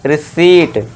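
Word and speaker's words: receipt: आपको ध्यान देना है पी के बाद ही अगर टी दिख जाए तो वहां पे भी पी हमारा साइलेंट होगा ठीक है दोस्तों ये ध्यान देना है तो इसे क्या पढ़ेंगे हम रिसीप्ट ठीक है दोस्तों चलिए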